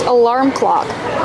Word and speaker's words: alarm clock: We see the word alarm has 2 syllables. The first one is relax, like cup and up, alarm. Put the stress on the second syllable, making the R sound like bar and car. Alarm. Alarm clock. Link the sounds.